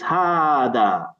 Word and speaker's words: هذا: Yeah, remember, it's not hada. You need to pronounce an alif that's not written there. So it's hada.